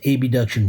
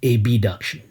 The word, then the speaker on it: abduction: side of the body we like to pronounce abduction funny so in a noisy room it sounds distinct from adduction so if you want